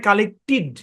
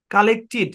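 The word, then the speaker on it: collected: কথা হচ্ছে ইডি উচ্চারণ হবে তাহলে মিলাপ হবে কালেক্টিড কি উচ্চারণ হবে ভাই কালেক্টিড এরকম কা লেট এখানে দুইটা এল আছে কিছুই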